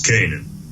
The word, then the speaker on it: Canaan: lived in Israel, and I guess what they pronounce it, Canaan or Canaan. And Joseph, he was the son of Jacob. It's Canaan.